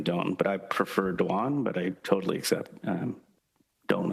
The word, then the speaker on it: Duan: We pronounce it Duan, but I'm used to being called Don as well, similar to the I